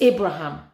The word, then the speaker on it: Abraham: um ibraim I say I keep saying Ibrahim sorry Abraham Abraham sorry guys oh my God I'm so sorry it's Abraham sorry sorry I don't